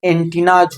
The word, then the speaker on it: antennas: और दूसरा इसमें एस लगा के तो इसका उच्चारण एंटीनाज होता है।